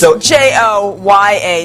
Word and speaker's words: Gioia: Tell them how to, Sandra, tell them how to spell it real quick. It's Joya, Joya Halava.